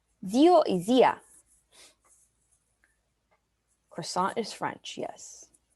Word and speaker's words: zio: in spanish is theo in italian it's zeo with the z for zebra zio izia croissant is french